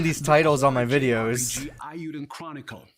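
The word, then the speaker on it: Eiyuden: Ayuden Chronicle. Ayuden, okay, good. I said it right.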